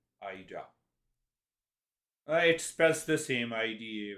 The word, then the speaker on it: Ida: i will have you heard of eda hurricane kate thank you for correcting my pronunciation ida it spells the same